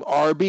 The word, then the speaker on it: Arbi: name your first name rb we don't mention last names uh rb is that what you pronounce it that's exactly it kind of like the sandwiches okay mine's lee and